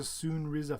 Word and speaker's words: Soonriza: Brian, it's pronounced the Soonriza Fox.